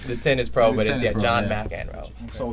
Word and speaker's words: McXro: It's pronounced like the tennis pro, The but it's tennis pro, Jon yeah. Mcxro.